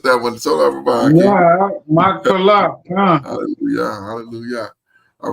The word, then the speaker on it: Machpelah: me a cave in Machpelah. I'm saying that wrong. That's dead on. Oh, Machpelah. Okay. I thought I butchered that one. So everybody. Yeah, Machpelah.